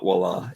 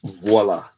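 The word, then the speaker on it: voilà: do something something but it's not voila it's voila which it kind of sounds like voila so i guess that is why the mix-up occurs i can't believe how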